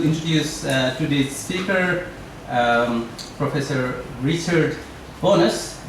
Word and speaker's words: Bownas: And it is my pleasure to introduce today's speaker, Professor Richard Bownas. It's pronounced as Bownas.